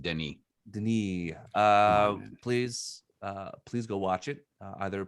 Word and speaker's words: Denis: So if you haven't watched it, the S is silent. Denis, please go watch it.